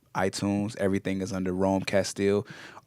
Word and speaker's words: Castille: a music on iTunes everything is under Rome Castile r om e CA STI ll e once again CA STI ll en it's pronounced Castile and uh yeah thanks for rocking with me